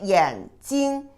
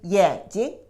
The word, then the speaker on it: 眼睛: But the second word, you gave a light touch tone. Instead of the first tone, you say only, you don't say 眼睛, you say 眼睛. See the second one, 眼睛.